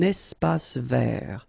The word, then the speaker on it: espace vert: Un espace vert. Final E not pronounced, and then final T not pronounced.